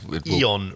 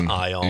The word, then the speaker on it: ion: slight exposure to yeah Eon radiation oh that's not how you pronounce ion yes no but uh